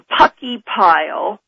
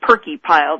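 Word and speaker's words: Purckeypile: about seismograph stations in Puckey Pile, spelled P-U-R-C-K-E-Y-P-I-L-E, and some people call it Perky Pile. I've heard both pronunciations, and Toledo, Alaska."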